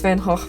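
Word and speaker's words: Van Gogh: But this whole discussion brings Vincent Van Go to mind. I know it's Van Hawk, but people don't recognize the Dutch pronunciation and I get called pretentious every single time I use it.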